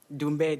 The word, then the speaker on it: Ndumbe: Dumbe, the N is silent. Thank you. Dr. Ndumbe.